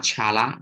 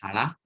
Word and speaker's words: Challah: Okay, not Challah. Okay, it pronounced as Challah.